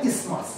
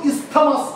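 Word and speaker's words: isthmus: এই যে অংশটা ফ্যালোপিয়ান টিউবের এটাকে বলা হয় ইসমাস, কি বলা হয় কান করে শোনো, ইসমাস, বানানটা কিন্তু ইস্থমাস মনে হবে, আই এস টি এইচ এম ইউ এস, কিন্তু উচ্চারণটা ইস্থমাস না, উচ্চারণটা হচ্ছে ইসমাস।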